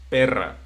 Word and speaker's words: perra: We have two words, pera y perra.